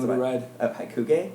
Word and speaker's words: Hakugei: How do you pronounce that? Wait, The name of the ride? Hakugei? Hakugei.